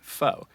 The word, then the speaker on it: pho: one that we the the spelling that we chose was pho which in english according to the rules of english is pronounced foe that to me makes